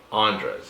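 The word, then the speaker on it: Andrés: His name's, I can say his name, Andres. Andres, yeah, there you go, that's his name. Because they always give me shit like, "Well, what do you say his name is, Caesar?" Like, Andres. Like, it's Andres. Oh, Andres?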